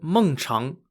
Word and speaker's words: Mengchang: leader of the state of Qi, called Lord Mengchang, was believed to have loved playing Xiangqi. Mengchang is spelt M-E-N-G-C-H-A-N-G.